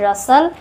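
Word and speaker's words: rustle: इसको पढ़ते हैं रसल। इसको पढ़ते हैं विसल। विस्टल नहीं पढ़ते। टी साइलेंट होता है तीन तीनों ही वर्ड्स में।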